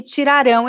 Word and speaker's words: tirarão: Este aqui, tiraram, está no passado e tirarão está no futuro. Por isso é muito importante a pronúncia. Se você está falando no passado, você precisa dizer tiraram. Se você está falando no futuro, tem que ser tirarão.